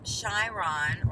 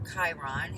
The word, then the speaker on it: Chiron: you weren't crazy alright as shy Ron or Chiron when you want to pronounce it has moved into Aries